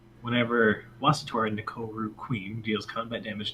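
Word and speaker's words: Wasitora: Oh yeah, it is Wasatora.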